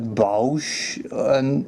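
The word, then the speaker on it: Bossk: Personally, I say Bush. I think some people say like Bausch, or some people don't even pronounce the H.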